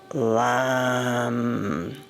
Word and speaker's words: lam: And as you visualize it, and then the one syllable Sanskrit mantra that we use is um lamb with an L and making it really long and deep.